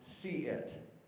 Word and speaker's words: CSEIET: CSEIET, pronounced see-it, which actually makes a lot of sense because we want to see what's going on and to be able to prevent this from happening.